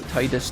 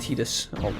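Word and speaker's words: Tidus: oh Titi of course I recently found out that Titus has pronounced tetus please don't start that yeah the ever uh the never ending debate of what titus's actual name pronunciation is yeah I think uh apparently in the original or in the Japanese I think they do call him tetus I know that's going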